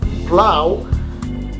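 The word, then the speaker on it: plough: Plow, like plowing your snow. Plow in American, P-L-O-W. However, in the British, it's P-L-O-U-G-H. Both of them, they pronounced plow, but they are written differently.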